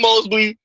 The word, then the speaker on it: Mosby: Marilyn Mosby, because you pronounce it right. There ain't no L in there.